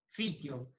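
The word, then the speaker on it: Pythium: Fitium.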